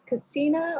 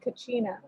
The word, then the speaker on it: kachina: like it i i'm i get told that it's casina or is it kachina the real pronunciation okay but the american eyes is kachina yes okay so it